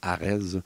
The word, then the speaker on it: AREDS: ça va être la formule ce qu'on appelle Arz on dit Arz mais c'ested avec un S donc àed bien prononcé ça veut dire agated high disease studies